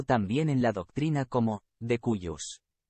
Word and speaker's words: de cuius: su muerte, conocido también en la doctrina como de cuius. Pronunciado.